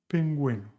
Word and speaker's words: pingüino: The same with guitarra and pingüino.